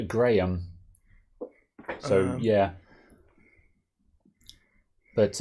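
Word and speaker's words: Graeme: The correct pronunciation would be Graham.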